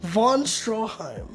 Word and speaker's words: Stroheim: Von Stroheim. Von Stroheim. You've gone from mispronouncing Von Stroheim to, like, Van, just calling him Van, and then you called him Van Helsing.